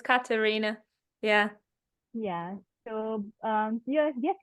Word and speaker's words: Katharina: name incorrectly no worries it's German so sometimes people are confused about the th as Karina yeah yeah so um